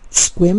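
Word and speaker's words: Sequim: may wonder that yes squim is pronounced squim to write rhyme with swim and it is located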